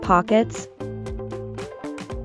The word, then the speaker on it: pocket: Note that the O is pronounced as an aw sound. Aw. Pock. While the E is pronounced with a short eh sound.